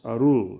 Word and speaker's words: arul: or the chant and the core of this mantra is arul it's pronounced arut in the chant for grammatical reasons but the mantra is